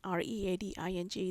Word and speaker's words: Reading: Although it's spelled like reading, Reading, the terminal is actually pronounced Reading Terminal.